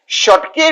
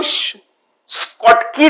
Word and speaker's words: Schottky: मैं शॉटके if defect बोलता हूं, कोई लोग उसको स्कॉटकी डिफेक्ट भी बोलते हैं। सो इट डजंट मैटर, ये अपना अपना तरीका है बात करने का, बोलने का, प्रोनाउंसिएशन करने का। मेरा प्रोनाउंसिएशन इज शॉटके डिफेक्ट।